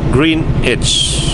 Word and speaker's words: Greenwich: strip all right Aries it looks like pronounced Greenwich Green itch oh yeah because I had a question how to pronounce Granite's or the greenness or Greenwich so I guess it's green it's green itch and thanks for the